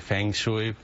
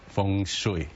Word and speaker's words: Feng Shui: A lot of people pronounce it Feng Shui, but for my culture, which is Feng Shui.